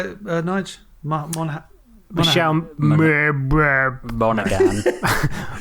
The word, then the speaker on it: Monaghan: Casey Affleck and Michelle Monaghan. So, how'd you say it, Nige? Michelle Monaghan. Monaghan. No, you don't pronounce the G.